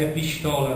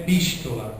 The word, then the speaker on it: epístola: palavra epístola né que algumas pessoas vão pronunciar epistola né É É epístola ou carta na mesma